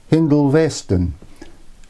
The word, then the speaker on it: Hindolveston: And when the line leaves East Junction, it starts to turn south towards Hindolveston. And I know that's the correct pronunciation because somebody that's lived locally all their lives told me so.